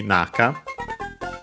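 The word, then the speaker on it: 中: yeah on its own would be naka accent on the first syllable not the one we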